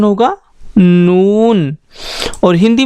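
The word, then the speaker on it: نون: देखिए दोस्तों इसके पेट में एक नुक्ता भी बना हुआ है, तो इसका प्रोनाउंसिएशन होगा नून, और हिंदी में इसके लिए हम यूज़ करते हैं ना।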